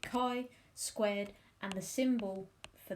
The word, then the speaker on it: chi: about the chi-squared test you can call it the chi squared test but i don't think that's the right way to say it um so you pronounce it chi squared and the symbol